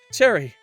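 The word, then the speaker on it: Cheri: It's Cherry. Like the flavor. Sherry or Cherry?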